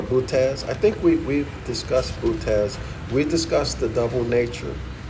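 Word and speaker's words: Boötes: I think we've discussed Butez. We discussed the double nature of Christ on page 21 and 22. So we must have left off on Butez. Bootes, pronounced Butez.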